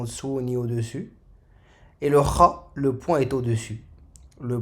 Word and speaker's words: خ: Donc le point de sortie de la lettre, c'est la gorge. C'est aussi la gorge. Kha.